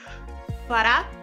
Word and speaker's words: Fırat: Come si legge? My name is Farat. Farat?